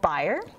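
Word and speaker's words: Bayer: that a German company called buyer otherwise it's spelled bear related salicylic acid from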